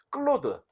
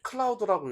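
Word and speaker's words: Claude: 여러분들이 아시는 분들은 아시는 클로드 예 클라우드라고 읽으시는 분들 있지만은 클로드 예 클로드는 굿팅이라고 썼어요.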